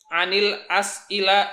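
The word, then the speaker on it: عَنِ الأَسْئِلَةِ: Anil as ila. Nah, di sini antum bacanya anil. Karena dia bertemu alif lam.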